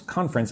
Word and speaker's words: conference: Shark Kyle says, "Sorry, you mean we should pronounce conference as two syllables." That's how I pronounce it. Conference. Conference. You could say conference, but doesn't sound natural.